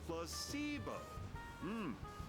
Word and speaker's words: placebo: Placebo. The stress is on the middle syllable. Yeah, just don't mind that the E is there. You know, C. It says the letter itself.